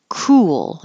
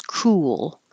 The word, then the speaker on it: cruel: flew with the flu cruel is almost two syllables I made it two parts here just to remind you when your lips go forward for the U they come back for the L and it almost is two syllables cruel cruel land unusual